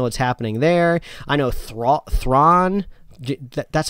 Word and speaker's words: Thrawn: don't really know what's happening there i know thrawn that's how you say his name yeah yeah